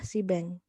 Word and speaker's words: Seabang: caranya fasih tersebut adalah sibeng tulisannya saya Abang bacanya sibeng sibeng singkatan dari Seaworld